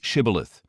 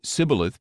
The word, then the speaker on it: Shibboleth: If he answered no, they told him, Please say Shibboleth. If he said Sibboleth because he could not pronounce it correctly, they seized him and killed him at the fords of the Jordan.